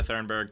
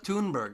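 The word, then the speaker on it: Thunberg: we just have greta thurnberg just just being upset by things i do that would be hoonberg you can't pronounce dog it's pittsburgh greta tunberg my god it's almost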